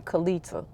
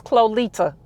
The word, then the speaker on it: Kolita: I'm trying to see who who who going to mess up my name and call me Kita. I didn't call you Kita. Uh-uh. She call She said she said my name the whole syllables. Kolita. She said the whole syllables. She said everything. She said everything. She hit them. She hit them all.